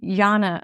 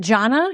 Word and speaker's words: Jhana: jhana, or is it jhana? Jhana, how do you say it, Daniel? So there's jhanas, Jhana, or if you're being Sanskrit about it, dhyana, Dyana. And so jhana is the Pali.